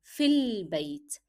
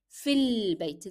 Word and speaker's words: في البيت: So it will be sounding like fil bayt, fil bayt. There is no alif here. So it is written but not pronounced.